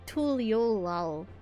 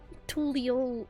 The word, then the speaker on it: Tural: of tul T tul tul tulo I think they don't pronounce the a I think it's just